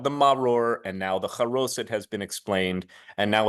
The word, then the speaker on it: charoset: By the way, the joke about charoset of the liver works even better if you pronounce it the Yiddish way and say charosis of the liver.